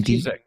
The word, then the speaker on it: Cizek: Andy Cizek.